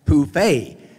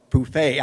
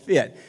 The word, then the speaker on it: Phfft: broadway play phfft and it's a french word that's pronounced poufy so from now on you can call it poufay i always called it fit but that's the story